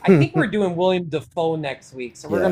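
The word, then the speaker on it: Dafoe: It's actually William Defo. That's how it's like correctly pronounced.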